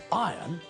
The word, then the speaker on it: iron: I are o n when we pronounce the word we don't pronounce the letter R when we say iron it sounds exactly the